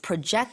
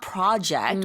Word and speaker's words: project: to make sure to you're accenting it properly so it's project not project which is a completely different word but spelled the same name uh so when you